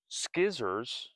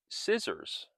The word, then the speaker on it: scissors: Scissors are not pronounced skizzors, but scissors.